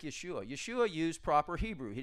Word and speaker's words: Yeshua: to to America but it's Yeshua and Yahweh or Jehovah or however you want it's it's going to have the Y sound not the J sound so there's rules of